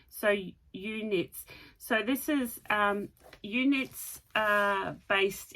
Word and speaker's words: eweknits: But it's from, and I'm going to pronounce this, eweknits, E-W-E, I'm assuming is U, that's how we would pronounce it. So eweknits.